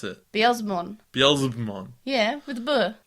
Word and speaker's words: Beelzebumon: Beelzebumon. Yeah, with the B. Beelzebumon. Beelzebumon. Yeah, Beelzebumon, because it's Beelzebub.